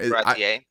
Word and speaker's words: Baratie: Baratie.